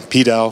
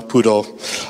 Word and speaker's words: PDAL: we'll get started and however you say it it's fine petal poodle I'll tend to say poodle but uh just insert your own pronunciation when you hear me the library we've